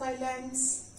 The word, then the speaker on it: island: S will be silent. We are not pronouncing the sound of S in this.